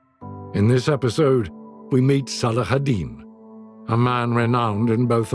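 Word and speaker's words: Salah ad-Din: In the west you call me Saladin, but my name is pronounced Salahadin which means the righteousness of the faith.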